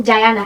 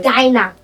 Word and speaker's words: Diana: principal doesn't call me Diana he pronounces my name wrong. He says Dina Dina but I'm like okay it's Dynasty.